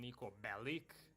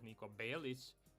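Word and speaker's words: Belić: I mean, everybody calls them Niko Bellic instead of Niko Belic, but okay, it's not that easy to pronounce as an American.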